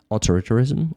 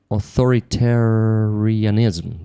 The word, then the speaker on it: authoritarianism: Authoritarism or authoritarianism that's how you say it in English.